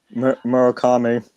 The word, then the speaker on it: Murakami: Your home run leaders right now, uh, we have Aaron Judge and Maraki Murakami, or however you pronounce that name. Murakami.